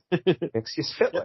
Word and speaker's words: Mxyzptlk: one of the episodes breaks down his name into 4 distinct parts: mix, yes, spit, lick. So, yep. Mxyzptlk.